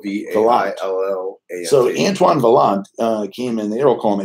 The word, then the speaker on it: Vaillant: lot yeah spoke be a lie so Antoine Vaillant came in the air Oklahoma he'd be in